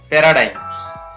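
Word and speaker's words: paradigm: Next है शब्द के अंत में GM हो, तो कोई भी शब्द हम पढ़ रहे हैं और उसके लास्ट में क्या दे रखा है, GM, तो इसमें जी का उच्चारण है वो नहीं होता है। ऐसे शब्द कौन से हैं, इनके बारे में जानते हैं। टी ए पे, आर ए रे हो गया, DI डाई और म पैराडाइम, पैराडाइम।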